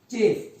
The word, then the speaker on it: chafe: फिर आपके पास एक ऑप्शन है चेफ, CHAFE, इसको बोलते हैं चीफ, CHEIF वाला प्रोनाउंसिएशन होता है, बट है CHAFE।